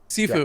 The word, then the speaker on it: Sifu: Sifu.